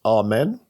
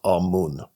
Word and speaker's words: Amun: Some people think it should be pronounced Amen. Some think it should be pronounced Amun.